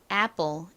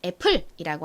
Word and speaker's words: apple: 의미는 뭐였죠 사과라는 의미의 Apple 이죠 한국식으로는 애플이라고 하지만 미국식 발음으로는 apple apple 요렇게 발음합니다 자 이렇게 오늘 배워